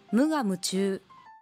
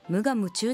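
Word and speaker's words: 無我夢中: 夢中は長音で発音しましょう。彼はゴールに向かって無我夢中で走った。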